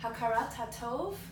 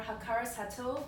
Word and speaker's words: hakarat hatov: Now, the Hebrew for this is hakarat hatov or hakaras hatov, depending on how you say it, okay?